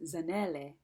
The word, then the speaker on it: Zanele: and she said, "Oh, so your name is Zanele." And that was so funny because it's been really rare that I hear people say my name that way, which is the correct way to say it culturally.